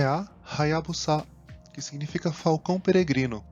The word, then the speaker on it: Hayabusa: Atenção novamente ao som de H no começo e de S no final, Hayabusa. Mais uma empresa que teve